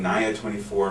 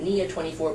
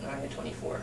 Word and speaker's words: Nia 24: Some people pronounce it Nia 24, but it's Nia after niacin. Nia 24.